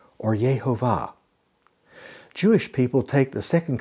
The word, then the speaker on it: Yahweh: Some people say that it is pronounced Jehovah. However, there is no J sound in Hebrew. The first letter, Yud, has a Y sound, so two likely pronunciations would be something like Yahweh or Yehovah.